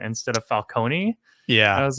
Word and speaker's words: Falcone: they kept pronouncing it falcone instead of falcone yeah i was like he's italian right so you'd pronounce the e at the end but i think it